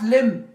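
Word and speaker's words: limb: फिर उसके बाद हमारे पास लिम लिम यहां पे क्या है बी साइलेंट है लिम एक अजू होते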